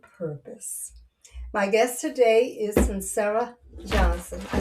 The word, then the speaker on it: Suncera: My guest today is Sincera Johnson.